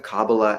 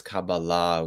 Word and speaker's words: Kabbalah: And by the way, I'll pronounce it as cababala with the stress on the final syllable.